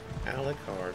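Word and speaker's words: Alik'r: In Stormhaven, there is a boatswain that goes to Alucard Desert. I looked this up how you pronounce it. Alucard.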